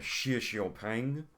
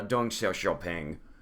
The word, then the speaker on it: Deng Xiaoping: Xi Xiaoping. I believe that's how it's pronounced. There's a pronunciation guide in your book. Yeah, Deng Xiaoping.